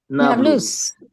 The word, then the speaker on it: Nablus: But Arabs cannot pronounce the letter P. So they turned it into Neapolis, which is Nablus.